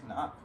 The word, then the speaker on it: Cnoc: squeeze filter like really really good is the senoc outdoors water bladder which are designed specifically to work with this style of filter although on the cnoc website they recommend using um a different it's actually pronounced cannot is it yeah i listened to an interview